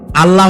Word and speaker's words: আল্লাহ: তো আল্লাহ তাআলা তার উপরে আমাদের বিশ্বাস হচ্ছে এই যে